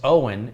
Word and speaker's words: Eoin: o i n says it's pronounced owen it's irish i have never heard